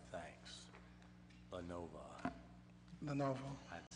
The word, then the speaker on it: Lenovo: advertising for bids to purchase up to 37 Lenovo computers, 5 docks, and 5 DVD players from Lenovo, if I pronounce that right.